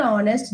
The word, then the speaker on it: honest: honor Raku is an honest gentleman is an honest gentleman so again you can see our honor honest all these three words H is silent so the next alphabet